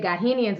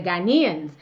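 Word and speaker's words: Ghanaians: but I have mispronounced I had said got him Ian's instead of ghanians and so people were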